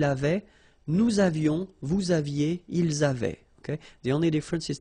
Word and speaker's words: ils avaient: And then you saw probably that we've got also here A-V-A-I-E-N-T, but then you pronounce it avait.